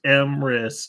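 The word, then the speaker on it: Emrys: go um anyways yeah look him up pronounced m risk e-m-r-y-s um it looks phenomenal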